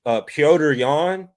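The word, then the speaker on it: Petr Yan: Like, but at least Piotr Yan, that's on the money.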